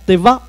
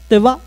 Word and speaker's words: Teva: Exemple, quand on dit Teva, le prénom Teva, on dirait en tahitien Teva, alors qu'en français, on dirait Teva.